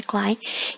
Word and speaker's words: Klein: E Klein em alemão, né, pronuncia Klein, quer dizer pequeno.